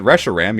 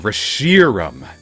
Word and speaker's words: Reshiram: starters Oh Reshiram if you pronounced it Russia Ram you're a cop Higgs youngest's that's [